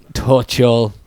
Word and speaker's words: Tuchel: Thomas Tuchel. Tuchel. Tuttles, the shop. You could have... It rhymes with Tuttles.